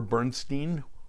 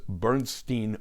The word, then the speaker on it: Bernstein: Bernstein was known as Bernstein West because he was in Hollywood in Los Angeles they pronounced their names differently as well Elmer pronounced his last name as Bernstein and Leonard his last